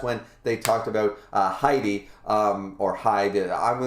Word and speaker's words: Hide: hide hide and seek in japanese when it's a name i find a lot of them go hi d you know they they pronounce the e on the end so that's what i'm